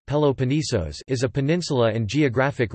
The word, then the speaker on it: Πελοπόννησος: The Peloponnese or Peloponnesus, Greek, Peloponnesos Peloponnesos, Greek pronunciation, Peloponnesos, is a peninsula and geographic region in southern Greece.